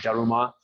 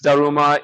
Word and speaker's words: Daruma: They call Bodhidharma Damo, and this is a Japanese thing, so the Japanese kind of pronunciation of Damo is kind of like Daruma.